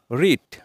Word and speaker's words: read: এটা সঠিক উচ্চারণ নয় উইন এর পাস্ট ফর্মের উচ্চারণ হবে ওয়ান পাস্ট পার্টিসিপল ফর্মের উচ্চারিত হবে ওয়ান রিড যার বাংলা অর্থ পড়া রিডের পাস্ট ফর্ম আমরা রিডই বলে থাকি পাস্ট পার্টিসিপল